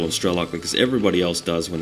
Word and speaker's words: Strelok: I sort of get caught up in this one because some people tell me it's pronounced Strelok, and I think that really is the right way to pronounce it, same way as Bradok.